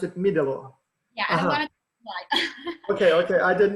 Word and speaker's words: Middelo: one important question so you pronounced it not medellin you pronounce it middle law yeah okay okay i didn't know all right